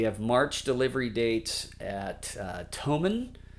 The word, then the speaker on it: Thomann: It's spelled TH, but I think like tool Thule, the roof racks. I think because it's UK, we don't say the TH like we do in America. We say Thomann.